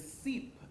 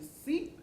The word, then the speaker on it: CEEP: So your tagline is CEEP, as in seep into a world of possibilities. Explain that to us. Okay, so it is definitely a play on words because CEEP is spelled S-E-E-P.